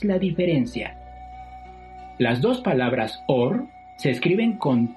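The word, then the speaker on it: אור: La palabra hebrea para piel es la palabra or, pero también existe otra palabra hebrea que se pronuncia igual, or, y esa significa luz.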